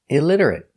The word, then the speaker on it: illiterate: The T is pronounced with a D between vowels. Pronounced D. Ilid. IL. Illitter. R-ller. T. Illiterate. Illiterate. Stop t at the end. Illiterate. Illiterate. Illiterate. Four syllables. Stress on the second syllable. Illiterate. Stress on lid.